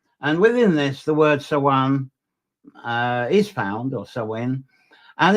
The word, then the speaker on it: Samhain: That's how it's pronounced to me. Samhain and Samhain.